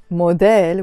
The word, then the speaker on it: موديل: موديل, we pronounce it موديل the Lebanese way, okay?